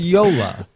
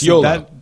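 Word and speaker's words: Jolla: Because I've heard Yola. Yes, it is Yola.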